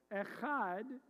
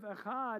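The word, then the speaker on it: אחד: So if it was a resh, it would be pronounced, instead of echad, it would be pronounced acher.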